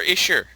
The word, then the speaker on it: Isher: The Weapon Shops of Aisher by A.E. Van Vogt. Is it Aisher or Isher? Oh, we're pronouncing it Aisher. Okay. If it's Aisher. Why Aisher? I would say Isher, like Fisher.